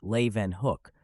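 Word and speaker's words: Leeuwenhoek: prove even more astounding Anthony van Leen hook pronounced Le Van Hook earned his living as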